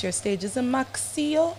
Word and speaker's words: Maccio: we got my OG Mac how do we pronounce your stage is it maxio it's maio maio I'm that sounds like a designer pronounce